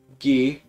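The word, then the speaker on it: ぎ: You pronounce it gi.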